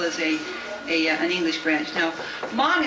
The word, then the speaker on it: Hmong: Now, Hmong is spelled H-M-O-N-G, so it's not like, it sounds.